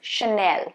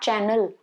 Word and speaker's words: Chanel: Now this one is Chanel, not Channel. There is no double N. Chanel.